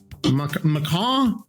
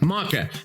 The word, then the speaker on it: maca: It's pronounced maca.